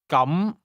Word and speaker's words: 咁: The difference is that the word for in that case is pronounced with a mid-rising tone, while the word for today has a high level tone.